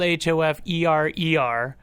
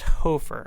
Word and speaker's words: Hoferer: It's spelled Hoferer, but it's pronounced Hofer.